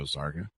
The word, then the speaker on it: Zarqa: Welcome to the show, Zarqa. It's a lot, Chris. And have I got all the pronunciations of everything there right? There's a lot of... Yes, Zarqa rhymes with parka.